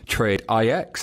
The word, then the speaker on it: TradeIX: I have the good fortune of being joined by the guy from TradeIX, as I now know it's pronounced.